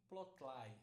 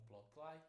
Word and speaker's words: plotly: Essa essa essa biblioteca aqui, plotl, eu pronuncio plotl, mas tem tem algumas pessoas que pronunciam de forma diferente.